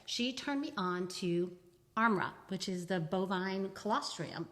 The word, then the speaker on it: ARMRA: Let's spell it for our listeners who didn't quite hear that. Yeah. So it's ARMRA, Armra.